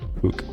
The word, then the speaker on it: Hooke: Y por último, la ley de Hooke, se pronuncia así, Hooke.